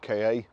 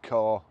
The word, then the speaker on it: Ka: Today I'm going to show you around our Ford KA, or car, however you want to pronounce it or say it.